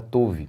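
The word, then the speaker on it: Tov: Uma igreja chamada chamada Touve. E é assim mesmo que se pronuncia. O próprio no próprio livro a gente lê assim.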